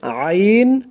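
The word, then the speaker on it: عين: 2টি অক্ষর হচ্ছে আইন হা। আইন, দেখুন আপনি যখন উচ্চারণ করবেন খেয়াল করবেন যে উচ্চারণটা আপনার কোথায় থেকে আসে।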